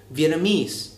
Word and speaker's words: Vietnamese: người hay đọc sai, là Vietnamese với trọng âm vào âm cuối.